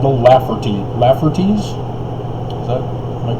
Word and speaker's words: Lafferty: And apparently there was this family called the Laffertys. Am I pronouncing that right?